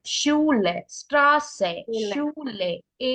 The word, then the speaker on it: Schule: It's Schule, Schule, Straße, Schule. Schule, ആ ഒരു E pronounce ചെയ്യാം കേട്ടോ.